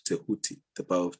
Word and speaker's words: Tehuti: It sounds like a D or a DJ to people who are used to Latin speech, or I don't know